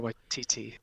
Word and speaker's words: Waititi: Like, I love more, and I think Taika, I always get his last name wrong. Taika Waititi.